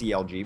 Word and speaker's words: Algae: some familiar names, and Algae, which likes to be pronounced CLG because they're clever.